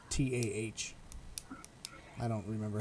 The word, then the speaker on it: Fatah: I did it Fatah, but it's Fatah.